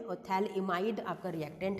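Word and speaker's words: phthalimide: ठीक है, थैलेमाइड के अंदर PH आपका साइलेंट होता है, इट्स अ थैलइमाइड सिंथेसिस रिएक्शन।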